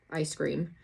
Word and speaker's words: Eyescream: So, if you want to go on there, it's I I E S C R E A M. Exactly like ice cream. Um, not ice cream. Ice cream. Just like the box is spelled.